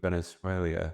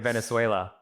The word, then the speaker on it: Venezuela: You're adding an Venezuela. I at the end. Is he serious? He's serious. Venezuela. Maybe that's Venezuela. British. Is that Venezuela. British? No. There's no I.